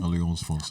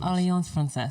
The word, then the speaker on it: Alliance Française: How do you pronounce that again? Alliance Française. Alliance Française, sorry.